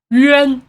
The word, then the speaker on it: Yuanwu: You mew first. Yuanwu. Both of the syllables need to mew first before you pronounce his name.